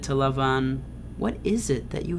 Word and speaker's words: Laban: just a note here i'm going to pronounce his name as lavon because that's the um how the hebrews pronounced but perhaps you are familiar with him being called laban but those are the same the same people jacob approaches lavon and